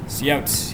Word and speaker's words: cout: I didn't notice the coot was see how See out, yes. I call it cout sometimes. See out is too long. You know, 2 syllables can be a little bit difficult.